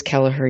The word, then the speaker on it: Kelleher: Is that how you say his name? Kelleher. Yes, it is Kelleher.